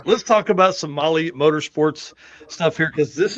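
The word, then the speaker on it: Mahle: And for the podcast listeners, Molly is spelled M-A-H-L-E.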